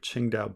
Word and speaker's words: Qingdao: lot of weird spellings qingdao beer it's just the um the one that everybody mispronounces that you might see in your in your own country but um let me bring up ching dao beer here which is